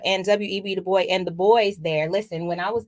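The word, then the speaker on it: Du Bois: and I've been saying de boy it's actually de Bo yes it's a French name okay so is it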